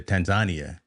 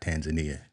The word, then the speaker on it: Tanzania: when I get to Tanzania, that's how they say it over there. It's not Tanzania, Tanzania.